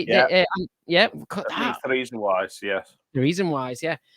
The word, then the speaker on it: Theresienwiese: Theresienwiese, yes.